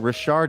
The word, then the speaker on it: Richard: Richard, it's French by way of Louisiana.